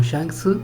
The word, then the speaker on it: Shanks: el español, ya que la japonesa lo dice como Shanksu y en español latino es Shanks a secas.